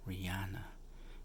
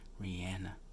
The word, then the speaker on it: Rihanna: cover and if we know for years I pronounced it as Rihanna but I saw her in an interview yesterday she was pretty adamant you know about the pronunciation that it's Rihanna so and the cover is Rihanna so let's